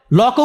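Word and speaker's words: Locke: লকও উচ্চারণ করতে পারেন না উনি। লক বলেন লক বলতে কেউ নাই পৃথিবীতে। লক আছেন জন লক।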